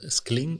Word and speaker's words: Scling: Is that the idea of Scling, or Scling is the pronunciation?